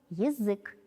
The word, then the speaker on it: язык: Послушайте, как мы произносим это слово «язык».